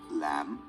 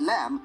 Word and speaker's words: lamb: be easy to spell but the b is silent which means we must